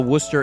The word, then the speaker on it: Worcester: only reason why I even know that you pronounce it Worcester is because when I went to school briefly